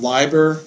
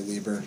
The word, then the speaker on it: Leiber: we're looking at Fritz supposed to be pronounced LIBOR but almost everybody I know says Lieber so I'm gonna say Lieber because that's what I've